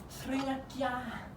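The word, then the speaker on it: Thrinakia: The advice has to be, he gets to thriakia, which is how you say it in Greek, to avoid eating.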